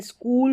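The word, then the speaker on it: school: कुछ स्पेलिंग्स में तो ये देखिए स्कूल हो गया। सी एच को यहां पर क पढ़ा है।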